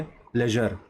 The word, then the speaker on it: pleasure: For example इसका pronunciation ज, जो नहीं, ज, जैसे प्लेजर, PLEASURE, इसका प्रोनाउंसिएशन कैसे है, प्लेजर, ज।